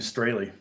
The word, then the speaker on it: Straley: about Thomas really and if you didn't know that's how you pronounce my name Straley that's how we pronounce it the correct pronunciation in German will be straw right and someone said hey